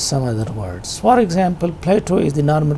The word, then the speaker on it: Plato: For example, Plato is the normal pronunciation, and if it is pronounced with a flap, it is pronounced as Play-Doh. So if you pronounced it like Play-Doh, and play has another